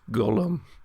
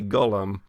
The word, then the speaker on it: golem: is no human servant this is gollum not gollum not gold eggs does it have eggs in its pocket but a golem it is spelled differently just yeah it is spelled differently this is the g-o-l-e-m gollum hmm and he took